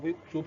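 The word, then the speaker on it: اُكْتُبْ: So in the case of the dumma, if the ainul fi'l is dumma, the alful wasli will also be dumma. So that is why we have uktub. That is why we have uktub from kataba yaktubu, because the ainul fi'l is what?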